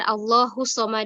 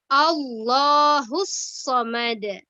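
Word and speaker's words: اللَّهُ الصَّمَدُ: kedua Allah Khair Uzbek biasanya allahussomad ada ya tasjid nya kurang di apa namanya kurang ditekan begitu ya jadi kedengaran allahussomad tetapi harusnya Allahhu skom ada allahussomad seperti itu ya ya yang yang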